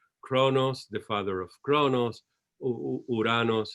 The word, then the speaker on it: Uranos: Father is always the father of Zeus, Kronos, the father of Kronos, Uranos. Is that how to pronounce it? Uranos, the first logos. Greek, yes, Uranos.